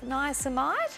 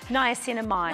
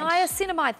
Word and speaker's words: niacinamide: and B complex caffeine oh how do I pronounce that just denies niacomide niacinamide niacinamide thank you yep it's vitamin B superoxide diet